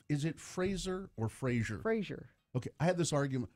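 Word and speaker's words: Frasier: Fraser.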